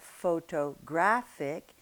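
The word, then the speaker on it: photographic: Now in English it can be anywhere as you know it can be absolutely anywhere you take the word photographer you have pho to grapher but you have photo graphic and you have photograph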